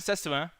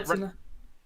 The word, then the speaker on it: Setsuna: But they're the daughters, Tawa and Setsuna, are. Setsuna. What? I thought I said that shit right. Come on now. You were close. Setsuna.